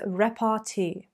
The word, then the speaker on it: repartee: banter oh no no no they would use rep rt rep rt make sure you vr a little